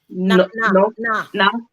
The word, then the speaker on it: Noth: Chris North or what is it? Chris? No, it's Noth.